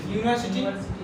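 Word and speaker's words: university: यूनिवर्सिटी। ये English word है ना? इसको क्या पढ़ेंगे आप? यूनिवर्सिटी। ये आपको उच्चारण है। पहला अक्षर क्या है? या। पहला अक्षर या है, और यह कहाँ आता है?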